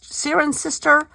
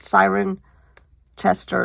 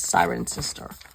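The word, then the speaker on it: Cirencester: we did the felting and oh yeah Sirin Sirin sister but it's not pronounced it's not written like that siren Chester is what it looks like but it's siren sister anyhow oh yeah here's my other stickers oh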